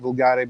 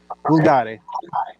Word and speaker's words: vulgare: I pronounce it vulgare because it's like Italian, which I speak.